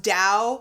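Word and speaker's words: Tao: text on dosm and even though it's pronounced Dao like d it's spelled ta t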